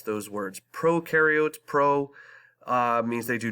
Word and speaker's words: prokaryotes: prokaryotes and there are eukaryotes that's how you pronounce those words prokaryotes pro means they do not have a nucleus